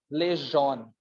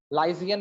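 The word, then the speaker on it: liaison: इसको ऐसे पढ़ो, लेजॉन, लाइजियन नहीं पढ़ते इसको। ठीक है, लेजॉन पढ़ो।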